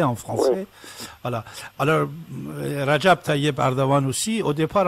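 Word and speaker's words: Recep: départ, on disait Rajab, mais maintenant, on dit Rasap, Rasap. Erdogan, on dit Erdogan. Lui-même, une fois, j'ai entendu qu'il n'était pas content, il disait, c'est quoi ces gens-là qui ne savent même pas prononcer mon nom et ils me donnent des ordres. Ils prononcent mon nom et ils vont me donner des ordres. Moi, je m'appelle Rajab Tayyip Erdogan.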